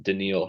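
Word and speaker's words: Danielle: start I just want to say his name is denil denil yeah okay I did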